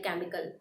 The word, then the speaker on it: chemical: C-H-E-M-I-C-A-L, chemical. But this word starts from CH but produce the sound of K, that is chemical.